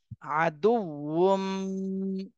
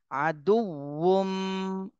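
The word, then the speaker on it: عَدُوٌّ: পেশ দু আদু ওয়াও মিম দুই পেশ বুম আদুম আচ্ছা এখানে ওয়াও এর উচ্চারণটা একটু কঠিন মতো মনে হচ্ছে কিন্তু ওয়াও টা উচ্চারণ করার সময় ঠোঁট গোল হয়ে যাবে তাহলে উচ্চারণটা সঠিক হবে আদুম আদুম মিম পেশ মুয়া জের বি মুবি নুন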